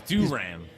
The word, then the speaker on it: Duran: Well, apparently it's Duran. Like Duran. Duran. No, but it's like during the group. Well, you probably don't remember. Ow. You remember the group Duran Duran?